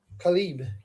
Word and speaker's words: Caleb: Khalib. They pronounced it Khalib. They said that's how you say it.